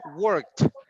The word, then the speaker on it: worked: So she has a T pronunciation, worked.